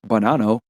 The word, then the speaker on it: Bonanno: The Bonanno crime family, pronounced Bonanno, is an Italian-American mafia crime family and one